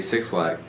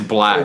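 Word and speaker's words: 6LACK: Oh, what about your boy Six Lack? It's I'm just kidding. It's black. It's black. It's black. Fucking shit. It's spelled with a 6, so I have to say Six Lack.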